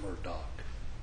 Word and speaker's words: Murdaugh: It is our honor to represent Alec Murdaugh, or Murdoch, depending on how you pronounce it.